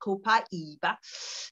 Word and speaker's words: Copaiba: So one of the reasons why Copaiba is, in fact, so that's how they say it in the South America, Copaiba.